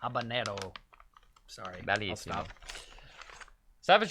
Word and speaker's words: habanero: Habanero. That's not how you say it. Habanero. Habanero.